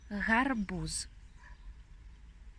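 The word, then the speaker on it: гарбуз: This is something like he, the English H letter, which you pronounce like in the word house, but you speak it with the actual, here with the sound.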